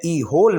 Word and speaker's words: whole: I spent the होल, WHOLE, होल में W silent रहेगा, W की आवाज़ पैदा नहीं होगी। ये तीसरी चीज़ है सीखने की इस सेंटेंस में। W की आवाज़ नहीं आएगी और होल हम इसको पढ़ेंगे।